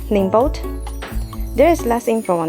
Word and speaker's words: NIIMBOT: is the brand n-i-i-m-b-o-t i think it's pronounced um name boat there is less info